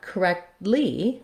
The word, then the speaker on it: correctly: saying correctly correctly correctly i again drop that t sound and make it more of a stop so i do make it um but what i what happens is it releases into the l so correctly i stop